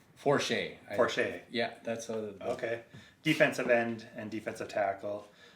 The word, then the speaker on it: Porcher: Do you know how to pronounce it? It's Robert Porcher? Forche.